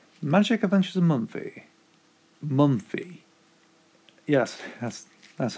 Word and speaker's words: Mumfie: a month a magic of inches a month a month fee yes that's that's how you pronounce it right so magic inventors of mumfie